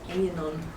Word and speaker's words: Aenon: Spell it for me. AENON. Anon.